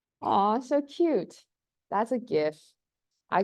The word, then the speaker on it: GIF: so cute that's a gift I call it a gif uh so gifts stand for a graphics interchange format and Graphics has a hard G so therefore it is gift um but each to